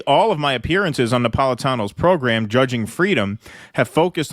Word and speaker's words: Napolitano: latest appearance on Judge Napolitano sick see the guy said it wrong he was Judge napolo caught your latest appearance on Judge napolo uh he was referring